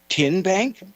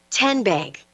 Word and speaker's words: TN Bank: Tin Bank. Uh-uh. So, what is it? Ten Bank. 10 as in Tennessee.